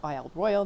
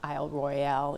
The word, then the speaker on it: Isle Royale: and been here all our lives call it wild royal not isle royale even though the spelling would indicate that pronunciation this is my ninth visit here i